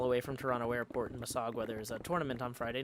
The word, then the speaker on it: Mississauga: Scott Hart corrects my pronunciation and says Mississauga. Mississauga.